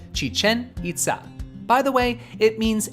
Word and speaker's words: Chichen Itza: Sadly, it is not pronounced like Chichen Itza. It starts off with a long chi and emphasizes the second syllables of each word, Chichen Itza.